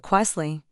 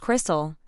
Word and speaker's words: Corstell: Then they'd attempt some butchered pronunciation like or Quesley. I'd have to raise my hand and say, "It's just Crystal."